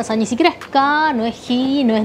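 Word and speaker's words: 日: Bueno, no importa, que son irregulares, pero ahí se pronuncia ka. O sea, ese carácter se pronuncia ka.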